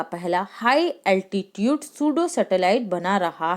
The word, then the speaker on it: pseudo: तो ये जो सूडो सैटेलाइट है, इसकी स्पेलिंग होती है PSEUDO। तो इसे पसेडो नहीं पढ़ेंगे हम, क्या पढ़ेंगे? सूडो पढ़ेंगे।